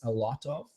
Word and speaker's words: a lot of: lot about what ah you have the phrase a lot of yet Americans Americans like to say as a